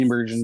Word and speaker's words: Steenburgen: And Mary Steenburgen, is that how you pronounce it? Steenburgen, yeah.